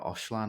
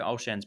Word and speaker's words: Olshan: to get out then andrea oshlan i'm probably pronouncing that wrong andrea olshan um stepped in there there you go um stepped in the